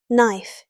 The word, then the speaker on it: knife: no equals no right equals right knife equals knife The K and W are silent. English loves silent letters.